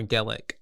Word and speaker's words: gecko: like a lizard but it's pronounced more GIC GIC GE GIC the gecko all right so we start